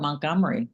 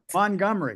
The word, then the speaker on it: Montgomery: How do you pronounce M O N T? G O M E R Y. Do you know I call it Montgomery without a T, but what do you think?